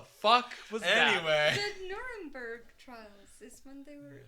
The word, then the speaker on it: Nuremberg: It rhymes with blurberg. Beautiful packages have arrived. What the was that? Anyway, the Nuremberg trials is when they were Yes.